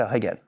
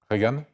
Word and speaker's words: Regan: d'années et qui s'appelle Regan. Reagan, Regan. comme le président. Ouais, c'est juste, ça ne Non, s'écrit c'est pas lui. exactement pareil. Il y a R-E-G-A-N. Oui, Reagan, très bien.